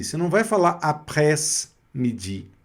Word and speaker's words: après: E aqui, o après-midi, aqui já está aberto, olha, après.